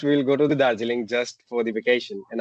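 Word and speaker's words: Darjeeling: How do you say it again? Dargiling. Dargiling. And we're going there to look at the No, no, no, no, no, no. Dariling.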